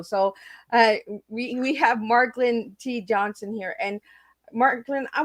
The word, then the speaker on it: Marklyn: In the beginning, I was calling him Marco. So we have Marklyn T.Johnson here.